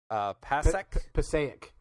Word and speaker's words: Passaic: But the article, the big headline for the Huffington Post is 10-inch pacu, testicle-eating fish caught in how do you pronounce that? Passaic.